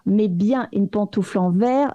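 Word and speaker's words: vair: pourquoi cette confusion donc le mot vert v et vert ve se prononcent de la même façon, il pense que c'est une erreur de traduction.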